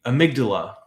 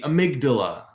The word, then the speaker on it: amygdala: That would be the amygdala. The amygdala or amygdala.